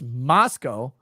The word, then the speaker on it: Moscow: and divine says gentlemen it's pronounced Moscow my mother always told me to remember there are no cows in Moscow love you both look